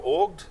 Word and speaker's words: Auggd: I am rob laying on the CEO of org it's pronounced Borg we are that short for augmented